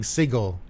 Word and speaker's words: Sigil: monetization uh Carolina say thank you for correctly pronouncing sigle as we all should American English oh so uh ay